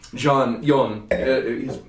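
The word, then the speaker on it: Jon: Yon is the way to say his name up in this zone.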